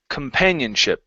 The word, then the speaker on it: companionship: at the very beginning instead of saying C okay it's Kum companionship the stress is on pan companionship okay very good uh